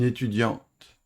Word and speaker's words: étudiante: Si le masculin se termine par une consonne muette, le E final la fait sonner. Un étudiant, une étudiante. Dian, diante.